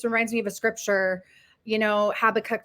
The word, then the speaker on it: Habakkuk: And some people say Habakkuk, but I say Habakkuk. I don't know exactly how you're supposed to pronounce it according to, the Old Testament.